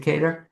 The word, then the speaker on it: Cater: And that and this and I'm pronouncing it Kedar. You you're spot on. unusually uh most people pronounce it Carter.